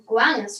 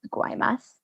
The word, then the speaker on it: Guaymas: conditioning so victoria from guanis mexico it's pronounced guaymas yeah if that's what i said garmus guaymas it's really not that hard to pronounce okay that's